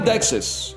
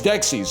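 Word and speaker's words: Dexys: Discover this like a very By the way, it is not Dexus. It's Dexis.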